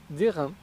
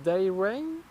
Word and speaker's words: D'Airain: Alors, je vais le prononcer à la française. D'airain, parce que je n'ai aucune idée de comment on devrait le prononcer en anglais. Peut-être D'airain.